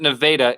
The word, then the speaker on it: Nevada: state at kinnick yeah um uh and we pronounce it nevada in iowa by the way okay um one